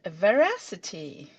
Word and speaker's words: Verasity: Yeah, it's veracity. Yeah, so Veracity. All right. a little bit like the real word, but with an S.